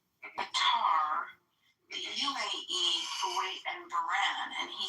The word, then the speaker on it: Bahrain: East, Israel, Saudi Arabia, Qatar, the UAE, Kuwait, and Bahrain."